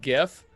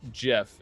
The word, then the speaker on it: GIF: with you Scott and that is pronounced gif but the person who created it tries to say it's pronounced Jeff and yes some people